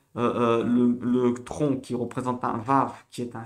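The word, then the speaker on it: וָו: Quand elle est seule, elle se prononce V, Vav.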